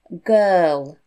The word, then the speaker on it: girl: actually an ER sound the i r in the middle makes an ER sound it's a blended sound so it's actually three sounds it's ga ER oh girl okay so it's a